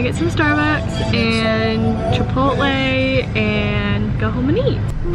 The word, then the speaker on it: chipotle: in the english language every time you see a ch it is pronounced ch like church or chicken or chicharron even if we're going to the spanish version so why all of a sudden when people see chipotle they decide to make the ch sound